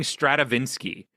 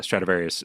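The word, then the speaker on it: Stradivarius: Um right, but I think I was saying Stratavinski, uh which which isn't which is nothing. That's nothing. That's that's taking two words and putting them together that two words don't mean anything.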